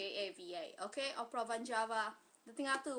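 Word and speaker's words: Opera Van Java: states Uh, it's called Oprah Vanjava. Oprah like Phantom of the Oprah. Van Van like Van Halen and Java like the island. J A VA. Okay. Oprah vanjava.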